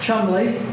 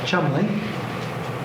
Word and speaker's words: Cholmondeley: This is uh Chomley, spelled Cholmondeley but pronounced British way as Chomley.